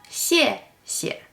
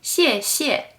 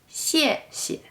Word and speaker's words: 谢谢: The first 谢 is pronounced with a fourth tone, and the second one is pronounced with a neutral tone. So, 谢谢. We don't say 谢谢, we say 谢谢.